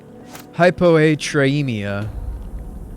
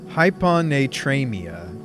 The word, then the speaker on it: hyponatremia: a second there it's called hypo hypo tremia how do you pronounce that Barwick or hypot traia sounds painful third times a charm it's hyp hyponatremia hyponatremia it's low sodium body can't